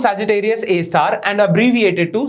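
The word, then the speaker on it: Sagittarius A*: hole called Sagittarius AAR star means asterisk okay pronounced Sagittarius A star and abbreviate it to Sagittarius A star okay super massive black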